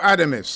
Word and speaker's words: Adames: his name Hamza no not not Hamza oh adames adames sorry I said he's really just stepping